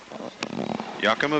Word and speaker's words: Yakima: Yakima Valley?